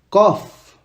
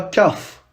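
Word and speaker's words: قاف: F cof et pas kaf. On dit cof, ça doit venir de la gorge.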